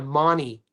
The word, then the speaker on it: Mahoney: They pronounce it in Australia like it's spelled M A H N Y. Many.